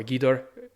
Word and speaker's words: Ghidorah: they gave a beautiful ghidorah or guidor as some people will pronounce it we also have matara